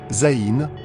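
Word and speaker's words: ז: Septième lettre, Zaïn, comme Z.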